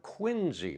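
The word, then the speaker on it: Quincy: Braintree Massachusetts part of quinsey Massachusetts now that spell quu I ncy but it's got the ZZ sound at the end the town of quinsey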